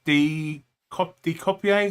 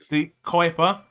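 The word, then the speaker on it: De Cuyper: Milenkovic, De Copier. How do I say his name? Kuiper. De Kuiper.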